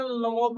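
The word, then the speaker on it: Lomov: अगला जो कैरेक्टर है, the next character Ivan वैसिलेविच लोमोव, सिर्फ इसे हम प्रोनाउंसिएशन लोमोव हम करेंगे, हम क्या बोलेंगे, हम लोमोव बोलेंगे।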